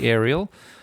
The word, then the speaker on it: Aral: There's no I there although you do apparently pronounce it aerial.